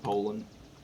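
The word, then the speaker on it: Poulan: surprised me about the poulon i know it's pronounced poland bolts aren't the easiest thing to get in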